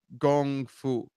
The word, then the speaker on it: gongfu: the same kanji it's a gongfu is the pronunciation in Mandarin but the show kung fu is kung fu because that's the transliteration that was used also in the old